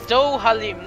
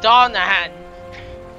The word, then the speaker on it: Dohalim: to the palace okay apparently i've been saying it wrong it's do haleem not donahan i need to i